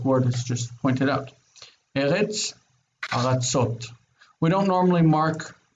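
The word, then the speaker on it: ארץ: In the singular, I see the first syllable has an accent, but in the plural, the accent's on the last syllable.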